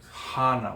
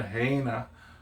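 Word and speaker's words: Hāna: Like hana. When we go to hana, you don't say, oh, we're going to heina, yeah, or hena.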